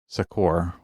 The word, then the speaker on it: succor: See, I think I would pronounce that and I'm not certain of this. Sakor or like a bit more emphasis on like a O R sound at the end because it has an O R at the end, right?